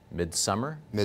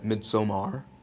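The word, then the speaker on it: Midsommar: movie this summer yeah called midsummer yeah mid Samar thank you I was gonna yeah like I might be saying it wrong too so it is the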